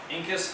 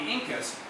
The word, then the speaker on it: incus: against the incus uh incus kind of like one of my favorite body parts because it's like the only thing that rhymes with like Pinkus at least in the English language um so so that